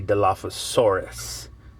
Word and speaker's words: Dilophosaurus: So in the US, we would say Dilophosaurus. But in Japan, they kind of cut things a little short to make space.